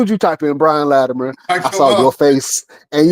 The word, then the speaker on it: Latimer: Latimer, which is what you say. Latimer. I say it with a it almost sound like a D.